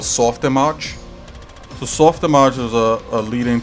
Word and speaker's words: Softimage: Yes, yeah, exactly, Softimage. That's correct. I normally like to call it Soft Image, but they insist it's pronounced Image.